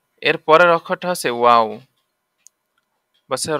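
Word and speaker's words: و: এর পরের অক্ষরটা হচ্ছে ওয়াও। বলছে র অক্ষরের উপরের মাথা পেঁচানো, তার নাম ওয়াও।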